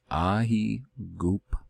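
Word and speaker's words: Αἴγυπτος: First off, pronunciation. Aegyptos.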